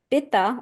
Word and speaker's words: pitta: Then when it comes to pitta, Pitta, we pronounce it pitta in the West.